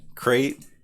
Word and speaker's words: Crate: So today we got Crate. And one thing I know for sure is crate rhymes with great.